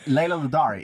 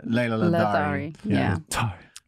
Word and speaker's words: Ladari: Maybe there's a soft D. Okay. Who knows? No, there actually is a silent H in the name, but I cut it out because who needs a silent H? Where you go after the D? Yes. Ah, yeah. Because it's like a the.